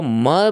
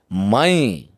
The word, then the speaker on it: मैं: तो म पे ऐ की मात्रा है। और उसमें अं की बिंदी है। जिसका सही उच्चारण है मैं। तो अब हम अगर इसको कहते हैं मई तो यह थोड़ा सा